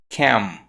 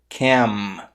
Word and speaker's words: cam: Mas no inglês, o som do M no final da palavra, ele não é pronunciado dessa forma. Ele é pronunciado com a boca fechada. Por exemplo, nas palavras cam, stem, seem. Você percebeu que no final, para pronunciar o M, eu fechei a boca?